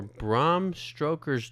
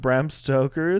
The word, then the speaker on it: Bram Stoker: for Braum stroker's Dracula did you say Braum stroker Braum stroker stroker did I say it wrong I'm just I had to make sure that there wasn't a typo you are just saying it wrong what look read it again Brum stroker no you're adding a letter into the last oh look at that is it Bram brm Stoker brm stoker stroker I was like God